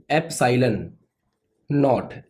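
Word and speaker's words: epsilon naught: इसको बोलते हैं एप्सिलॉन नॉट, NAUGHT। तो इसका जो प्रोनाउंसिएशन है वो है एप्सिलॉन नॉट, और इसको बोलते हैं निर्वात की विद्युतशीलता।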